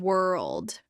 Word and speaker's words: world: Two sounds that confuse learners, word and world. Word has only one syllable. World has a dark L in the middle.